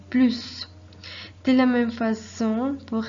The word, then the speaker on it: plus: Dans ce cas, il est nécessaire de prononcer le S. Donc, on dit le plus.